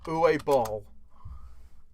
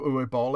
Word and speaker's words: Uwe Boll: But yeah, the one I want to go off of is a director by the name of Uwe Boll.